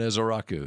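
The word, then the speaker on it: Ezeiruaku: Donovan is a Raku. It's actually easy to say once once you figure out that they don't pay attention to the spelling.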